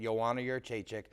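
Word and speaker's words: Joanna Jędrzejczyk: Joanna Jedrzejczyk, and that's how you say it, Joanna Jedrzejczyk, is the best female fighter in the MMA right now.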